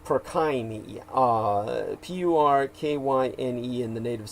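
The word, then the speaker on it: Purkyně: p-u-r-k-i-n-j-e and remember all Slavic languages and the Czechs are Slavs uh the Y is pronounced the J is pronounced as a y so uh would be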